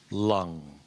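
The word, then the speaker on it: 龙: lung cancer and it's because dragon is pronounced in Chinese lung so it's my bicultural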